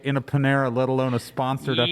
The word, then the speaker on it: Panera: We go to the Panera, which is Panera for those of you who mispronounce it.